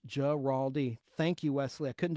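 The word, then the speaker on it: Guaraldi: Giraldi in Vince Giraldi is pronounced Giraldi.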